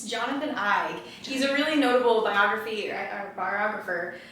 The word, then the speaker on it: Eig: I was looking at that book, and I'm glad you pronounced his name correctly for me, because I was calling it wrong. It's Jonathan Eig.